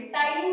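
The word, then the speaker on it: ptyalin: टाइलिन भी पाया जाता है। टाइलिन को इंग्लिश में भी कहते हैं टाइलिन, बट इसकी स्पेलिंग होती है PTYLIN।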